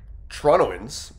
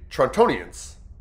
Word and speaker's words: Torontonians: See, when it comes to labeling the people within that city, we don't say Torontoans. No, we all of a sudden decide to pronounce that second T and say Torontonians.